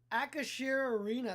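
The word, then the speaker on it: Acrisure Arena: So, Akashir Arena, that's how you pronounce it.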